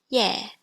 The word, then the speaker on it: ye: Next we have IE. This is pronounced yeah. I put a B at the start and it becomes beer. Or with a tone, beer.